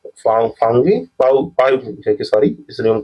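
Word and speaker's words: Phawngpui: Mizo hills में भी कौन से यहाँ पे ब्लू माउंटेन जो कि आपका फाउनी फाउंगी सॉरी इस रॉन्ग प्रोनाउंसिएशन के लिए थोड़ा ये मिस्टेक हो जाता है।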